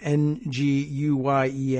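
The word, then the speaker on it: Nguyen: pronunciation of that surname n guu ye N I think is usually something real close to win uh despite there being an n in front there but we sort of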